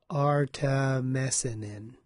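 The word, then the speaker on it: artemisinin: So, did I pronounce that right? I don't know. A R T E M I S I N I N. Artameanin, I guess.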